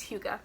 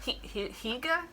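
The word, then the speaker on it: hygge: the cozy scandinavians like that's how it's pronounced it's spelled h-y-g-g-e but it's hugo i will actually include the video where we learned how to say it because neither of us neither of us we were like higa who could no no that's not right okay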